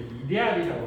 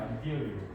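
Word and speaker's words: ideal: 아이디얼이라고 그러고 또는 번역에 따라서 다 번역이 아니고 발음을 쓰는 것도 이데알이라고 쓰는 데도 있고요. 그 영어로 근데 이렇게 쓰기 때문에 우리는 그냥 아이디얼로 발음하지 영어식으로. 근데 어떤 데는 이데알이라고 쓰기도 하고요.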